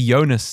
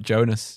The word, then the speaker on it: Jonas: it Al ukand and it'll also be yonas not Jonas yonas ukand probably exactly